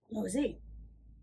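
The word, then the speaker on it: Laozi: I looked up how to pronounce the name. Oh, good. It's, now I can remember, Lozar, or also known as Lozi.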